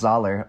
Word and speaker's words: Zahler: by none other than s craig zayler pronounced zoller i just learned that zoller all